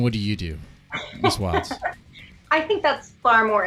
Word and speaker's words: Wildes: Your host, MrDeadman, and joining us here is Wildes. It's Wild or Wilds? Wilds, yeah.